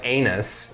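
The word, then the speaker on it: Annis: an anus hag and it's not spelled like anus it's spelled like anus uh so like if you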